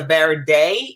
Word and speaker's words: verde: this one i think is the verde is how you say it v-e-r-d-e valentino we're almost